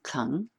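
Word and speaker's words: 功: Now, although it is spelled Gong, it is pronounced Kung, and it means practice, work, cultivation.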